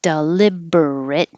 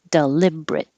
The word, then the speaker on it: deliberate: don't have to say deliberate you can drop the er and make it shorter deliberate and also if it